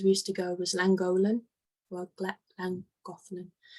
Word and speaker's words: Llangollen: And I think one of the places we used to go was Llangollen, or Llangollen. Llangollen. Yes. Thank you, Uncle Bernard. Sorry, I butchered that.